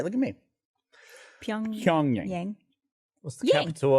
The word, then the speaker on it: Pyongyang: It's Pyongyang. Yes. Is that guy right? Yeah. All right. Look at me. Pyongyang.